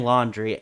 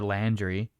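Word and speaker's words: Laundrie: what's his name something something confusing laundry that's that's how it's spelled so um yeah brian laundry l-a-u-n-d-r-i-e or landry landry oh yeah i guess i could see that um so anyway they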